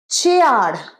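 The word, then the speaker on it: chair: peas নয় P peas pizza ঠিক আছে নেক্স চেয়ার চেয়ার কি বলি চেয়ার ছে আর নয় ছে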